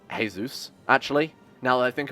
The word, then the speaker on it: Jesus: it's a it's like it's pronounced hey-zeus actually now that I